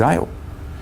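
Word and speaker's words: אל: we might say who's ale we might have seen the the word e-l pronounced ale it's god one like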